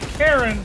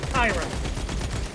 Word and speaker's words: Chiron: Now his name looks like it could be Karen, but it is pronounced Chiron.